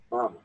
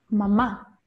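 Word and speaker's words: μαμά: Wäre jetzt der Akzent auf dem ersten A, wie würdest du das vorlesen? Mama. Akribos. Mama. Ne? Aber hier Mama.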